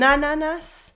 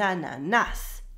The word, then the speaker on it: ananas: In French, we mostly stress the end of the word, so the last syllable. For example, with an ananas, a pineapple, we don't say an ananas.